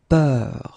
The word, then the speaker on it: peur: And then we will have a little bit the same, but it's a bit lighter, more open, and it's peur. Okay, previously it was bleu, so really, really deep, bleu.